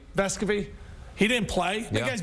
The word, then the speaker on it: Vescovi: Vescovi. Vescovi.